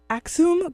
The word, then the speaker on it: Axüm: daniel warku he is the um director of aksum group am i saying that right you know